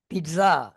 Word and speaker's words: pizza: මුලට පිස්සු පීසා නෙමෙයි how do we pronounce it? it mus be pizza undstන්and මොකක්ද pizza it is not actுally ප